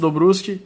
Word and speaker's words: Dobruski: of this guy before, Mauricio Dobruski, or Mauricio Dobruski, if we use the correct pronunciation.